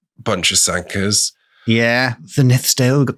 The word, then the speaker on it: Sanquhar: We've got Sanquhar, if you want to pronounce it wrong. Bunch of Sankas.